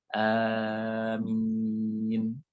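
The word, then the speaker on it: آمين: Tapi karena ini kita kajian lah, maka kita ambil pilih yang lebih pas, yaitu amin. Alifnya panjang, mim kasrah tanpa syaddah. Amin.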